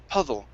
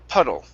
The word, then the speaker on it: puddle: wad water okay but when you said puddle you used a Spanish D which is PU pudle right and it and it doesn't sound the same sometimes people might get it confused with a th sound okay so you push your tongue back just like what you did with water okay and say puddle right puddle there you go